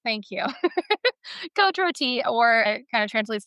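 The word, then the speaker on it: Côte-Rôtie: How did you pronounce this? Kot roti. Ah that sounds best. Thank you. Kot roti or it kind of translates to roasted slopes.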